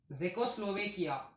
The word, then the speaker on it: Czechoslovakia: Friends, some of the countries like Hungary, Poland, and another country, Czechoslovakia. Here C is silent, so that's why it is called as Czechoslovakia.